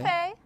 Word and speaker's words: buffet: Don't pronounce the T in these words.